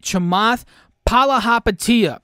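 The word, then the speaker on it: Chamath Palihapitiya: like chamoth paula okay i can't end this video without saying his name right chamath palahapatia that's how you say it i love that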